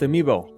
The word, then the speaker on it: amiibo: you've used the amiibo also plural amiibo is pronounced amiibo that tip is free